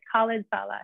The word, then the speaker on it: Khalid Saleh: We have Khalid Saleh. Khalid Saleh, exactly. You got it right, yeah.